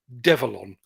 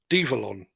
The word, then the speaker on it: Develon: to pronounce it but it is devilon or devalon or devillan let's go devil on and I'm going with devalon because apparently devilon is a combination of the words develop and onwards so I'm reliably